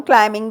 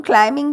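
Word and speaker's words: climbing: नीचे गिर पड़ा upon क्लाइमिंग the tree he fell off upon क्लाइमिंग the tree he fell off क्लाइमिंग कहते हैं क्लाइमिंग नहीं कहते बी साइलेंट होता है और दूसरी बात है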